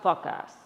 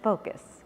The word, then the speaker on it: focus: This drink will show you how to fuck ass. Pedro, I think it's pronounced focus.